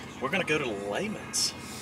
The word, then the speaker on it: Lehman's: going to go to layman's lehman's layman's house the correct way to say it depends on where you're from i guess but layman's